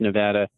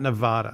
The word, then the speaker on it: Nevada: people who live here will will say it's pronounced Nevada andada not Nevada tomato tomato yeah so well you know for